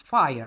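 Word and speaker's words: FHIR: That word that you see here FHI the FHI we pronounce fire like uh the fire.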